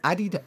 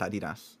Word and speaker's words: Adidas: Limbo said Adidas. It's literally pronounced Adidas. Adidas. Mm-hmm. Go ahead. It's fucking. No, Google it. It's German. It's pronounced Adidas. Nike is pronounced Nike, but Adidas is Adidas.